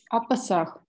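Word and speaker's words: הַפָּסַח: «Апасах». Да, а теперь относительно слова Песах, конечно, мы знаем, что Песах пишется как? Сегол, сегол. Так вот, в сеголатных словах на конце фразы ударный сегол переходит в камац.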